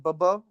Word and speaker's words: bobo: popped up was uh b o bo o and okay I I like put on pronunciation how to say it and I guess it's more like bbo but I say like Bobo and it's it means